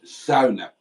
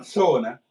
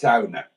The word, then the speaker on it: sauna: No, and it's sauna. I learned this from Peter P's Finland book. It's not sauna, it's sauna. That's how you pronounce it.